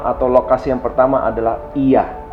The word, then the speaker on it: Oia: Nah, saya rekomendasi tempat yang pertama atau lokasi yang pertama adalah Ia. Ya, tulisannya OIA ya, tapi bacanya bukan OIA tapi Ia.